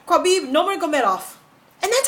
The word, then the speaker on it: Nurmagomedov: Tim's last name is so hard for me to pronounce, and I don't know why. I don't know why. I can say Khabib Nurmagomedov, and that's how you say his name.